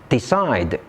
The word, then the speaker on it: decide: Did you notice the common stress pattern in these words? All these words are verbs and all of them have the stress on the second syllables. So here is a new tip to identify word stress. Stress is often placed on the second syllable in two-syllable verbs.